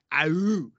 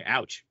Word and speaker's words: Aewch: And I'm just like, it's ouch. You say it like you're ouch as in pain.